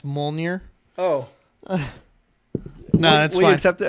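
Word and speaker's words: Mjölnir: choices that the beer alright DJ and it's pronounced mole near oh no II accept it okay alright alright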